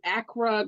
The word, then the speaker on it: Accra: at the music is My Life concert in Acra Ghana did I say that right yeah yeah